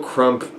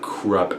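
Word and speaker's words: Krupp: ideas and that more work on the principle krump well I don't know I don't know I've been calling him krump throught the entire series until like someone told me it's pronounced krub and it went blue my mind was like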